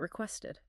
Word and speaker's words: requested: But then look at requested. That has the ID sound, request aid.